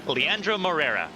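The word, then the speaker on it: Leandro Moreira: going to come out Leandro Moria uh Mor morira how do you pronounce that Carvin Leandra morera Leandra morera I had to write the first time thank you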